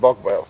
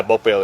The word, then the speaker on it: Bogballe: So that's how you pronounce it, Bogballe. Yeah, Bogballe, yeah.